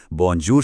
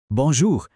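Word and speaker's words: bonjour: चलिए बोंजूर शब्द को ही लेते हैं। सबसे पहले है बी यानी बे। उसके बाद ओ यानी ओ। फिर आता है एन एन। फिर है जे जिसकी साउंड है डी। उसके बाद फिर से ओ यानी ओ। फिर यू यानी ऊ। और आखिर में आर यानी एयर। और जब इन सबको मिलाते हैं तो यह बनता है बोंजोर।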